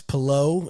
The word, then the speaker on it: Palou: Are you excited for Alex Palou?